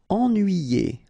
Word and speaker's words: Ennuyé: Ennuyé. Okay, so first en, then nuit, then yé.